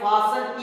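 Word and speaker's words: fasten: अब जैसे हम बात करें जब फास्ट की बात करते हैं तो फास्ट में टी का प्रोनाउंसिएशन होता है, लेकिन जब फासन EN जुड़ के वह बन जाती है तो यहाँ पे टी साइलेंट रहता है।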